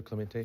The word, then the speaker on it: Clementi: And I think we said his name wrong. It's Tyler Clemente.